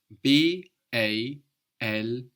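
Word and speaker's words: bald: B BT is spelled b a l d a d on the end of the syllable in German is pronounced more like a t so b a l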